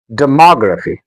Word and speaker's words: demography: demography The stress is on ma. demography de ma graphy demography philosopher The stress is on lo.